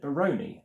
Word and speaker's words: Barony: But this person has pronounced it Baroni, like pepperoni, because it's emphasis on Rony, R-O-N-Y.